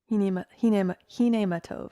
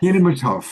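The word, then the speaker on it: Hine Ma Tov: Diara says, I love singing the, I don't know how to pronounce it, Hinematov. Hinematov, yes. Hinematov.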